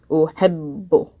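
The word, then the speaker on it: أحب: Uhibbu. Now, the second time I pronounce the ba, I'm pronouncing it bu. So I put a dhamma on it. Uhibbu.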